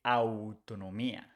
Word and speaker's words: autonomía: We don't say autonomía, we say autonomía. Autonomía. It's important that you know this small difference in the pronunciation.